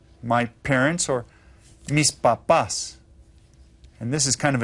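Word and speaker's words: papá: padre my father me papa my dad and notice this accent here you stress the second syllable when you say papa okay well Pap okay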